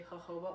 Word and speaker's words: jojoba: really love jojoba oil it's this one that's spelled jojoba it's actually jojoba oil i like this one